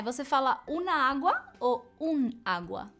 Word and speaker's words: agua: Então, todas as vezes que você vai usar essa palavra água, que começa com A e a primeira sílaba é a mais forte, água e não agua, você precisa usar o artigo masculino, el agua ou un agua.